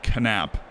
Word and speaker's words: Knapp: The K is silent if I was pronouncing that as an American last name. But I was told that in German I am supposed to say Knapp. And as a not German, I figured I would listen to that advice, and he is Knapp.